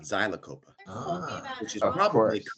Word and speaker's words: Xylocopa: In Spanish, they say Zilacopa and not Xylocopa, which is probably correct.